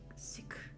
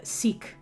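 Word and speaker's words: Sikh: sick like with a with an emphasis on the kind of KH sound at the end um but because I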